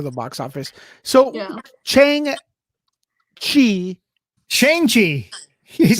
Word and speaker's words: Shang-Chi: Shang-Chi. Shang-Chi. You Is said that what you said? Chang? Chang-Chi. Chang? Get Shang-Chi. out of here. May Shang-Chi. 7th. Chang-Chi. S-H-A. Shang-Chi. Shang, man. Shang. Shang.